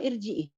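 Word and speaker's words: ارجعي: Ini bacanya arji atau irji'i?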